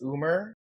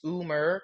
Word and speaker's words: Umer: My name is Umer. It's Umer, not Umer. I don't know where y'all are saying this, but like every motherfucker that comes to me at a at a comp that says Umer, I'm just like, dude, come on.